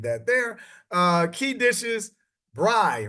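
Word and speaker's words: braai: there uh key dishes Bri right I had to Google the pronunciation of this but it's actually Bri like b r y is how it is pronounced but it's South African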